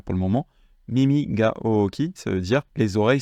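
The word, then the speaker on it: おおき: Ooki, j'en avais un petit peu parlé dans le cours sur la prononciation, où je vous avais dit que effectivement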